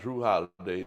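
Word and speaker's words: Jrue Holiday: You said you like Drew Holiday's name. I like how it's You spelled. like how it's spelled?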